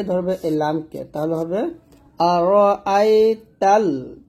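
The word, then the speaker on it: أرأيت: তা আর র আইতা এখানে আমরা যে ফুলটা করি আর রা বলি রা র বলতে হবে আর আইতা এরকম এই তাকে ধরবে এই লামকে তাহলে হবে আর আই ততাল তা লাম জবর তাল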